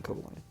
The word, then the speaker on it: Cobalion: Now, with Cobalion here, or Cobalion, I'm going to stick with Cobalion because I'm pretty sure it's more name pronunciation.